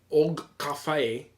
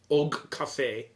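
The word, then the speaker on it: Og Kafe: Maybe this must be the Epcot at the Kringla Bakery Og Cafe. I think you're right. It's spelled OGKAFE. Og Cafe. I think that's the way you have to say it.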